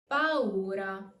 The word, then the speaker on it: paura: Remember to pronounce the two vowels separately, and the U is pronounced normally, not as a W, but as a full U. Paura, paura.